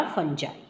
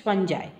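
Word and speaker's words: fungi: उन्होंने नाम दे दिया फंजा ठीक है spelling is wrong F यू एन जी आई होना चाहिए इट्स फं जाई ओके नाउ दिस वाज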